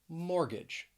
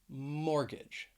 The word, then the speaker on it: mortgage: to the letter t a silent t that you will find in the middle of some words now i'm gonna go over four words all of them have two syllables and the stress is on the first syllable so let's begin with mortgage mortgage if you think if